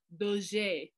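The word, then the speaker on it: Dauger: So D-A-U-G-R, when we say it the French way, it's Daugur.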